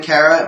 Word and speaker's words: Kara: I don't like, by the way, the pronunciation Kara. It's always been Kara. It was Kara in the Supergirl movie. It was Kara on Smallville. It was Kara on the animated series. It's been Kara in all of the DC animated movies. It's always been Kara. Kara's been the pronunciation.